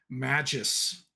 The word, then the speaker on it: Magus: We were working through some of the, idiosyncrasies with the Magus. See, I said it with a soft G there.